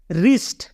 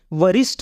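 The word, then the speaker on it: wrist: आर आई एस टी यहां पर आप देख रहे हो कि डब्लू के तुरंत बाद आर है इसलिए इसको हम उच्चारण करेंगे रिस्ट क्या पढ़ेंगे रिस्ट इसको हम यह नहीं बोलेंगे वरिष्ठ नहीं बोलेंगे इसको हम इसको बोलेंगे हम रिस्ट रिस्ट मींस कलाई नेक्स्ट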